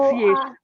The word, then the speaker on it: pronunciation: Not pronunciation, not pronunciation, pronunciation. Pro, pronunciation, yes, say it with me. pro, Noun, noun, C, c, A, a, shun, shun. yes. Okay. The first one is sir, the second one is sha.